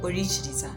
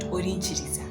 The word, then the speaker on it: Orikiriza: And because it has a KI, yet it's supposed to be pronounced like Orikiriza, not Orinchiriza, not Orikiriza, not.